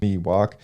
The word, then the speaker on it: Miwok: Northern California Indian tribe known as the Miwok pronounced Miwok um on November 9th Justice Andrew McCay dismissed